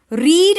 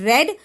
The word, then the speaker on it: read: see part i often read a book before i sleep here r e a d is not will not be pronounced as red because it is not showing in past tense it is not the